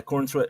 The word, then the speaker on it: Corenswet: Yeah, Corenswet.